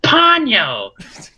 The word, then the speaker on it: Ponyo: And also, you're saying the name of the movie wrong. It's actually pronounced Ponyo.